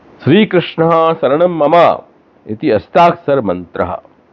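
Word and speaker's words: श्री कृष्णः शरणं मम: श्री कृष्ण के बाद दो बिंदु हैं, जो विसर्ग है उसका उच्चारण करना चाहिए, श्री कृष्ण शरणम मम। मम के बाद में विसर्ग के बिंदु नहीं है, ममहा नहीं करना है, मम।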